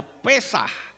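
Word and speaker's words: פסח: Kalau saudara melihat yang di bawah, itu saya tulis kata P samek het. Itu membacanya Pesah.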